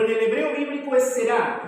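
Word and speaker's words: זרע: en hebreo bíblico es será será así se pronuncia en hebreo bíblico nosotros en la traducción leemos Simiente pero en el hebreo bíblico es será y aparece 228 veces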